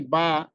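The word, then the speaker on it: ب: এরপরে আমাদের যে অক্ষরটি বা, সেটি আমরা অনেকে উচ্চারণ করি স্বাভাবিকভাবে, সেখানে আমাদের মাখরাজ সেটা আমরা খেয়াল করি না। আমরা বা উচ্চারণ করব দুই ঠোঁটের ভিজা অংশে আমরা লাগিয়ে রাখবো।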